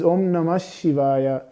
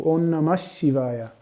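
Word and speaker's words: om namah shivaya: pronounced as an adarsha so actually we don't say om nama shivaya this is not correct it is more like omnamash but this shah is connected it is it becomes like double shot so on namashivaya no this is the the right pronunciation for this mantra um but you see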